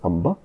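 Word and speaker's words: ampe: A-M-P-E, pronounced Amba.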